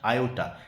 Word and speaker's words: Iota: का नाम है लेफ्टिनेंट आयोटा। यहाँ पे स्पेलिंग में टोटल लिख दिया गया जो कि गलत है, IOTA है, टी की जगह आई माने आप, तो लेफ्टिनेंट आयोटा।